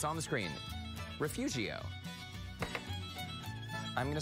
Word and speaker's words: Refugio: hey guys like that that words actually refugio riff riff urea for fury oh yeah there's a silent invisible are in there refugio perfect okay invisible are refugio yes sir okay okay all right